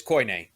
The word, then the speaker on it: Koine: of coin greek so i know it's koine because yeah what i'm